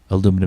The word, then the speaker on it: aluminum: Aluminum is the American pronunciation. Aluminium is the British pronunciation, by the by.